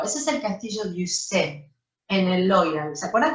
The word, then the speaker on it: Ussé: El castillo de Ussé, así se pronuncia en francés, es el castillo donde